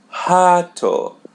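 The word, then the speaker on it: rato: So when it comes in the initial of the Portuguese word, we pronounce it as H. For example, the word hat which means rat. H. Hato. We pronounce the letter R as H. hat.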